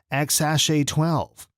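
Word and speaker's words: X Æ A-12: complicated name if you've ever wondered how to pronounce this password-like name it's x-a-12 i'd say one way that makes good old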